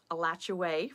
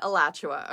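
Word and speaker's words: Alachua: only around 130,000 people now alacha County elat for some don't come at me at this uh most people pronounce it alacha okay just get over the elat thing anyway it has about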